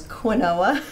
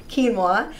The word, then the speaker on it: quinoa: Some people pronounce quinoa, but it's really quinoa.